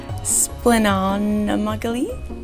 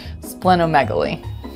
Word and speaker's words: splenomegaly: on mcgee spelling majorly i can read splenon muggily splenomegaly he him him a team no